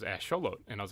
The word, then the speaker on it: axolotl: in the zoo and i had no idea how to say it so i had to look up how to say it and that's how it was it was ash show load and i was like